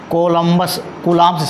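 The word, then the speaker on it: Coulomb: ligand which follow the कूलम्ब्स से बोलते हो कूलम्ब्स लॉ, कूलम्ब्स लॉ, यहाँ बी साइलेंट होता है, कूलम्ब्स लॉ कूलम्ब के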